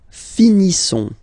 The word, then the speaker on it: finissons: Nous finissons. Okay, I-S-S-O-N-S. Issons. Nous finissons. Finissons. Okay, final S not pronounced.